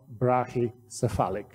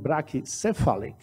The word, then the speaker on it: brachycephalic: in the medical term we can pronounce it a different way so I will do brachicephalic I see that our president Thomas used brachi Catholic also it's correct if you do like people do brachycephalic some because spell in